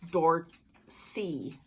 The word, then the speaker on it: Dorchi: Or maybe it was a message, and they said it's Dorchi. Nicola pronounces it Dorchi, and I'm going with Nicola.